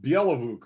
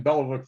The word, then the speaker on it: Bjelovuk: of yours so uh it's properly pronounced bellabook but my father decided in the 50s that most americans won't be able to say that very well so i think people have been saying bella hook for years but either way